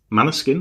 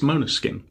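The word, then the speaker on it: Måneskin: and this week it's Moana skin Manor skin or main skin depending on your pronunciation but officially It's Mona skin on mono skin um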